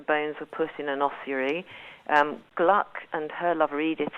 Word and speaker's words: ossuary: He went to an ossuary. Is that how you pronounce it? An ossuary? Ossuary, yeah. Ossuary, yeah.